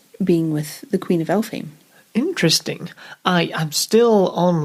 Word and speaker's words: Elphame: isabel gowdy episode but the name queen of elephant el fame is spelt e-l-p-h-a-m-e oh i see but it seems to come from like the way a scottish person would say elf home of course yeah i